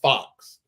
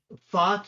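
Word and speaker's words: Fuchs: fuch right back in at Fox it's actually pronounced Fox Fox Okay FX but F you okay so kid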